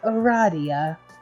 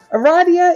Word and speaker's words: Aradia: because you mean illegal corrects you it is pronounced Aradia that makes sense although you just met you